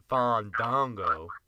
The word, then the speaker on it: Fandango: pretty nasty glances towards Fandango after the match. It looked like they had a couple issues with each other. First of all, say it right. It's Fandango. Fandango.